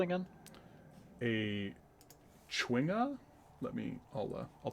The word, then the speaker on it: chwinga: god yeah yeah i think it's like supposed to be like uh chwinga but i kind of like qinghua i don't know why i like sticking an extra w i just feel like it's pronounced better that way even if it's wrong i mean i like